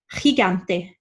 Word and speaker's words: gigante: G and I is our guttural sound, right? And G and A is the hard G sound. So we should really be saying gigante.